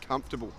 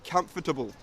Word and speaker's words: comfortable: more informal version of comfortable, and a little bonus pronunciation lesson here. When we say comfortable, we get rid of the "OR", you don't say com-for-table, if you get rid of the "OR", you will say comfortable perfectly.